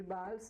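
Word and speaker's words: Valls: A cidade de Bals, escreve com V, Bals, pronuncia Bals em espanhol.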